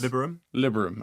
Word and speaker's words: Liberum: Is that how you pronounce Liberum? Anyone help me with that? I think it's Liberum. Okay, Liberum.